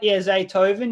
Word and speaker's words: Zaytoven: Yeah, Zaytoven.